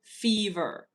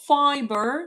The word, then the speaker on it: fever: Fever. Not fiber. Not fiber. Fever. So f e v e r. Fever.